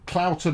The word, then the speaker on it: Clowton: cat he's just oh clowton is pronounced like trout rather than cloth oh flipping who knows